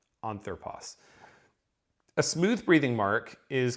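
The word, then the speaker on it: ἄνθρωπος: ago, a word like anthropos, and that I just pronounced as a smooth breathing mark, anthropos.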